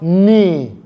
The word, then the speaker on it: knee: letter K and N, many times the letter K in that word, which is supposed to be pronounced as ka, will be silent. For example, we have the word knee.